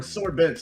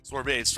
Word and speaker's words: sorbet: Well, there were sore bets or frozen desserts or whatever you want to call it. Nice. Sorbet, I believe it's pronounced, but...